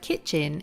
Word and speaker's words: kitchen: might be missing with the word kitchen is that the tea is silent okay see if you